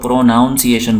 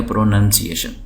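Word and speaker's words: pronunciation: यही जो लब्ज है इसी लफ्ज़ को हमारे यहां बहुत सारे लोग प्रोनाउंसीएशन बोलते हैं प्रनंसीएशन स्कूलों में भी आप सुनेंगे समय सब की बात नहीं कर रहा हूं बाहर जगह मैं आपको नजर आएगा प्रोनाउंसीएशन तो यह है गलत है प्रनंसीएशन तो प्रनंसीएशन का मतलब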